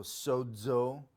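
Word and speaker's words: σῴζω: put zeta there because zeta at the beginning of a word is z sound but in the middle of a word it's a d z sound z so sodzo but then when we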